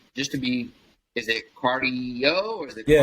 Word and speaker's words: Cardii.io: But it is pronounced cardio.